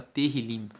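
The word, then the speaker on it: Tehilim: texto original da Bíblia se chama terril terril se escreve t e h i l i m e terim significa louvores Então os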